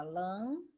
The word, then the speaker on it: lâmpada: Lâmpada, 3 sílabas. Última, penúltima, antepenúltima. Como a lã é a mais forte, ela vai ser sempre proparoxítona, tá?